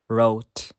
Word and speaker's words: wrote: Finally, the letter W is silent at the beginning of a word before the letter R. For example, wrong, wrist, right, wrote.